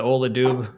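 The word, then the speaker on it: Ola Dubh: But yeah, the Ola Doob.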